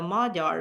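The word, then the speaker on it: Magyar: So they trace themselves to this particular group of Asian transplants into Europe who are called a Madar spelled with a gy. So gy in Hungarian makes a soft D sound J.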